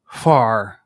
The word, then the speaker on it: Hvar: Hvar. You have to pronounce the H and the V very quickly.